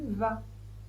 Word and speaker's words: vas: Tu vas tu vas le V se prononce toujours va. Pas de surprise. Le A se prononce A. Toujours pas de surprise, on ne prononce pas le S. Donc on dit tu vas répétez.